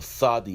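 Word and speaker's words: צ: The thadi is pronounced as a th.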